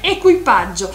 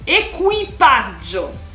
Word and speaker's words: equipaggio: La tripulación se dice equipaggio. Entonces no tiene nada que ver con equipaje, ¿vale? Ya lo sabes, equipaggio. Acuérdate de la pronunciación.